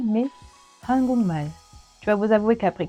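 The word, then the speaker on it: 한국말: Eh bien, en effet, il ne se prononce pas hangukmal, mais hangukmal.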